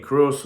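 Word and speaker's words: Kroos: to build the void left a year ago by Tony Kruz or Cruz depending on which country you're from how you pronounce that name whom Florentino Perez has refused to replace.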